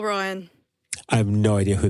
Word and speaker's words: Roan: Did you say Chopin Royale? No. How are we saying this? Mari, say her name again. It's Chappell for the first name, Roan for the last name.